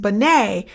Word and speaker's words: Binet: you're taking your exam the name Binet it's French so it's pronounced Binet but it's going to